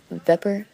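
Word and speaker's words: Vepr: no it's just weird it's spelled weird but it's a pepper and it is amazing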